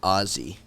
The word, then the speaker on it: Aussie: think about it that you should say it like Ozzie like like Ozzy Osbourne yeah because uh actually